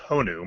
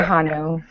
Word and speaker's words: Honu: And that'd be pronounced Honu, my dear. Okay, I always say Hanu.